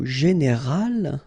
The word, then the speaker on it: général: Okay, but then phonetically it's quite interesting because you don't make any difference. You will get so général at the masculine form, and it will be exactly the same thing at the feminine form, général.